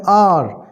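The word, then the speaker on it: hour: ही was made to wait outside for एन आवर, एन के बाद आर का pronunciation आ आया है, लिखा एच है लेकिन प्रोनाउंसिएशन आर आया है, इसीलिए यहाँ पर एन लगाया गया।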